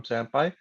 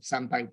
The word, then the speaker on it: SamPy: And the name is just because it's short and it kind of rhymes with other scientific library names like NumPy, SciPy, and stuff like this. So SamPy fits.